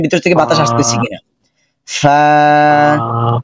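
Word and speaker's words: ف: ফা যখন উচ্চারণ করব তখন উপরের দাঁত ও নিচের ঠোঁটের পেট, উপরের দাঁত এসে স্পর্শ করবে নিচের ঠোঁটের পেটের মধ্যে এবং ভিতর থেকে বাতাস বের হবে, একদম নর্মাল আওয়াজ হবে, এটা হার্ড করার কোনো প্রয়োজন নেই।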